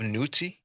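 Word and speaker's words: niwt: funny here we have newty uh some people at Donnie Williams probably familiar with the Newt glyph because in reference at 049 so I pronounce it newt I believe God and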